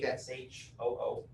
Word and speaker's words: Kashoo: It's called Cashew. With a K. Kashoo. So it's not spelled like the nut, although that would be really cool collecting all your nuts. Yeah. But it's Kashoo.